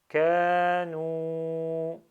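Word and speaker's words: كانوا: Le alif avec un 0 ne se prononce pas. Un prolongement de kef suivi de alif sans accent. Et un prolongement de noun avec dhamma suivi de waw sans accent. Et on lit kanu. Kanu.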